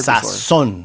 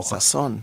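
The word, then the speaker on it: sazón: Sasson. So yeah. So it's it goes down on the O. Sasson.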